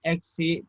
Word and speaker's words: eksi: Ya, ini cara bacanya, lihat ini. Di bawahnya ada arte, eksi, carpe, sama bolu.